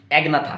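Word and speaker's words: Agnatha: ठीक, अब देखिए बच्चों, इसका प्रोनाउंसिएशन ध्यान रखना बच्चों, ये जो है AG, ठीक, ए का प्रोनाउंसिएशन नहीं होता एग्नाथा, यहाँ पर सॉरी ए का प्रोनाउंसिएशन नहीं होता, नहीं, यहाँ पर जी का प्रोनाउंसिएशन नहीं होता। ठीक, जैसे कि यहाँ से मैंने प्रोनाउंस करा नेथोस्टोमाटा, ठीक, तो जी का प्रोनाउंसिएशन साइलेंट रहेगा, और यहाँ पर दोनों भी प्रोनाउंस होगा।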